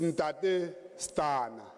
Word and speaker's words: Ntate Stana: And to correct the name after Berita, is Ntate Stana. That's the pronunciation.